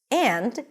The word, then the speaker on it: and: The function words reduce and is a function word that usually reduces. So we generally don't say and we just say. So we turn the a into awah uh and the d just eliminate.